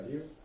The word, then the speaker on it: Love: Lo que sí tiene truco es el apellido de él y su padre, que es Martin Liuf, se pronuncia Liuf, se escribe Love, que parece Love. Yo leía Lowe, Yo o sea...